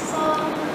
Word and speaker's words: sol: Kalau kalau 3 itu bunyinya mi, kalau 4 fa, 5 itu sol ya, bukan so ya.